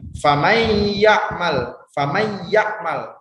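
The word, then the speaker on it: فَمَن يَعْمَلْ: Famay yakmal. Nah, nun matinya itu seolah-olah tidak ada atau dilebur ke huruf yang selanjutnya yaitu huruf ya.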